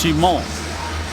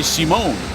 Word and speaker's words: Simon: And just to set the record straight on the first name of Dupre, in French his name is pronounced Simon, but the N is silent. But most people say Simone, which is actually a woman's name in French.